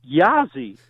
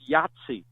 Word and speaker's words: Yahtzee: as a kid and he pronounced it yeah zzz and and I said excuse me mr. president I believe it's pronounced Yahtzee and he said that's